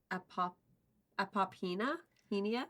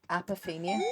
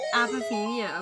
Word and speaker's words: apophenia: and pronounce it um apop apia apia so close yes the the word is apophenia apophenia okay I don't so